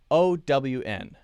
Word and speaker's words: own: O-W-N. How do you say this? Start open, then to W, then to the N sound.